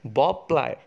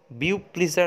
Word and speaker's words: Beau Plaisir: তার নাম হচ্ছে বব প্লায়ার, উচ্চারণটা হচ্ছে বব প্লায়, বানানটা BEAU PLAISIR, বব প্লায়ার বা বিউ প্লিজার অনেকে বলে।